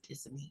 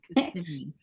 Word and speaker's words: Kissimmee: And I'm like, it's not Kissimmee, it's Kissimmee.